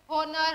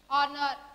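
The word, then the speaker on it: honour: हमारे यहाँ पर क्या है, H जो है वो साइलेंट है, H साइलेंट है, मतलब H से नेक्स्ट जो लेटर है हम उसके साउंड पढ़ेंगे। इसको हमने क्या पढ़ा, एयर पढ़ा, इसको ऑनेस्ट, ऑनर, आर।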